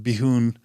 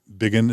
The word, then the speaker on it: Bigun: Her last name, even though it's pronounced Bigun, or at least that's how I pronounce it, it's spelled Bigun. So Anastasia, probably Bigun is probably how it's pronounced. Most people will say Bigun.